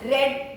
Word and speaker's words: read: read spinning read but in the present tense we pronounce read in the past tense and past participle form of uh verb is we pronounce red red yes this says